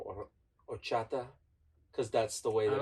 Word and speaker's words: horchata: Like it's either horchata or horchata, because that's the way that I've always learned how it's said. Because the H is silent.